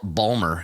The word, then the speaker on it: Baltimore: I did learn this weekend that if you're local, you don't pronounce the T in Baltimore. You pronounce it as a D for some reason. Baltimore?